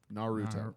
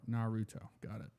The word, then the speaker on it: Naruto: Naruto okay you know you pronounce it by syllable Naruto Naruto case closed yes just